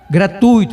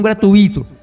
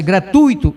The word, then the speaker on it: gratuito: Irman, que pronúncia, a palavra é gratuito, como eu pronunciei, e não gratuito.